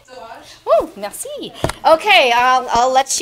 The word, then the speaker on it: Delange: Delange.